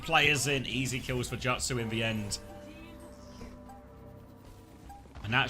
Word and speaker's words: jutsu: Jutsu. Okay. All right. Jutsu. He should have written the ute then like jujitsu but not. I think that's not helped at all. Quark. It's from the Japanese pronounced jutsu.